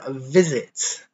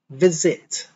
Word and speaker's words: visit: And the last word, visit. Well, the S is pronounced like a Z, just like busy. So busy, visit.